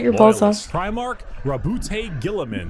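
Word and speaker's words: Roboute Guilliman: Primarch Rabute Gilliman. That's how it's said.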